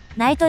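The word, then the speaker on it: 雷都: 雷の都と書いて、ライトというわけです。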